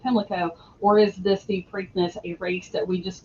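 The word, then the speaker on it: Preakness: So, right, there's actually um although it's pronounced uh in New Jersey, it's generally pronounced pranknness uh more of an a than an e and there's there's a uh section of Patterson and a park and prankness park.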